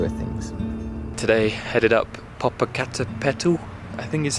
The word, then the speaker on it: Popocatépetl: Today headed up Popocatépetl, I think is how you say it, which is like a very big volcano.